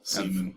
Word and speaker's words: Seaman: caman on Dreamcast Seaman it's actually Seaman pronounced Seaman I've never seen a